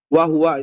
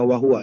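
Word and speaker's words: وهو: Wahua ini bacanya wahua ya. Ini salah harakatnya. E ini e waunya ini. Aha hapus dulu ini. W hua. Ini wa fathah ya. Wahua.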